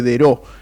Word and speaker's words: Daireaux: viales del municipio de Deró, en la provincia de Buenos Aires. Deró se escribe Daireaux, un inmigrante francés, sospecho.